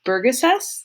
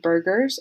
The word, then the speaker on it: Burgesses: and that is the house of burgesses i think it's how you pronounce it sometimes i say house of burgers um but these people